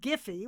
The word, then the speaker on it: Giphy: of a company called giphy with a hard G says politician are getting